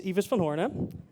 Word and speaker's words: Ives van Hoorne: of animations in here so my name is evas von horne you can you can find me under the